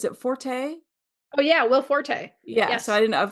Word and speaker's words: Forte: And it actually stars Tina Fay and I don't know how to pronounce his name. Uh Will, is it Forte? Oh yeah, Will Forte.